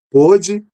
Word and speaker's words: pôde: Pôde e pode. Vejam, a pronúncia de P e O fechado, que é o O como circunflexo, né? E o O aberto, que é o som de O.